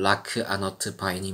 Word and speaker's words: 라크 아너트 바인: 은거한 기인들에게 전해지는 메시지였다 라그누스 벤이라는 이름은 현대의 대륙 공용으로 바뀐 형식이었다 그는 아스라엘이라는 민족의 명맥을 잇는 몇 없는 자였고 본래 이름의 발음은 라크 아너트 바인이 맞았다 그리고 그 이름은 현대